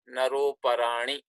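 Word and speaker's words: नरोऽपराणि: apostrophe is called avagra, and as it is not pronounced, you would be pronouncing this word as naroparani.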